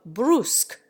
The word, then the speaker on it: brusque: The English give an oo sound to the U of brusque. In America, the word commonly rhymes with tusk.